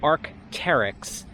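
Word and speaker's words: Arc'teryx: thule not fool and it's arc terrix not whatever bastardization of that strange name you've decided to come up with teva is actually hebrew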